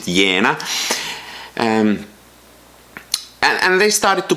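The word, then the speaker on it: Jena: in the town of Vienna I pronounce it as I think Germans would pronounce it yena and and they started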